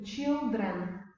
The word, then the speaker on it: children: вимогу знову ж таки Child тут I вимовляємо як в алфавіті тут просто як in children Маус змінюється на мазь